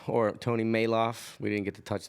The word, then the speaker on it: Malouf: Maloof or Tony mail off we didn't get to touch that but that's how your last name that's how your last name is pronounced Tony mail aw think so listen it is thanks for making